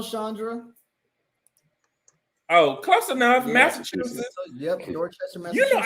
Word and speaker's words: Massachusetts: A Massachusetts. It's like sausage. People mess that up.